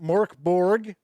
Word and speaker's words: Mörk Borg: B with milkman or as some people do pronounce it Mork Borg which I guess free League publishing and everybody